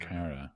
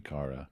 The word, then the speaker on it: Cara: Cara. But yeah, probably Cara to be fair. Yeah, everyone's running to Cara. That's the Irish pronunciation, and I'm going to stick with it.